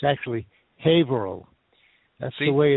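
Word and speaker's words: Haverhill: that the town in Massachusetts that you mentioned Haver Hill it's actually it's actually hail that's the way it's pronounced even though it's spelled ha Hill it's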